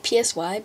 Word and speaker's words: Psy: I know it's spelled like P-S-Y, but, it's actually pronounced Psy.